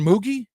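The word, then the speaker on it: Mougey: new general manager, Darren Moogie. Is that the correct pronunciation? I'm told it's like Loogie, Moogie, Mogi.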